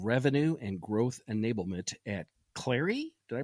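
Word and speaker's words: Clari: Kyle, you're the VP of Revenue and Growth Enablement at Clary. Did I pronounce that right?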